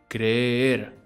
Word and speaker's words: creer: In Spanish, when you see a double E, it just means that you say the vowel twice, with a small break in between. Creer. Creer. It's almost like we go down a little bit and then we go back up.